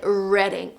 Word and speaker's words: Reading: Like, I remember there was this town in the UK that was spelled like reading, like the actual verb. But for some reason, native speakers said reading.